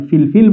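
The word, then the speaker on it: فلفل: এটির উচ্চারণ আমরা দুইভাবে করতে পারি। ফিলফিল বলতে পারি।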